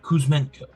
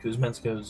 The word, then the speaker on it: Kuzmenko: I think that's how they pronounce it, how I would have pronounced it. Kuzmenko.